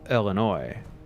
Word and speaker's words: Illinois: more importantly, being from Illinois, the number of people who pronounce the state Illinois, it infuriates me. Go forth to victory. I get so angry with people who pronounce the S on it.